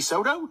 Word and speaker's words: Soto: Probably rhymes with Moto. Maybe Soto?